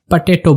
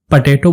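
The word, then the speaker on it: potato: लाल आलू को इंग्लिश में हम रेड पटेटो बोलते हैं। रेड पटेटो। अगेन इसको हम पटेटो बोलेंगे, पोटैटो नहीं बोलेंगे।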